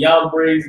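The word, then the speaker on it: Jambres: Just so y'all know, I pronounce Giannis and Yambres that way because the letter J didn't exist before 1611. So where you see the J, it's a Y.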